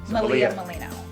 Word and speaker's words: Malia Miglino: I'm going to have you say your name Malia Molina thank you very much you're welcome I appreciate